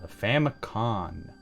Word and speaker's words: Famicom: thing it's just the Famicom disk system Famicon I know I say Famicon because that is how you say it in Japanese but I know for